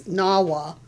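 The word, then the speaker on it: Gnawa: It's Nawa.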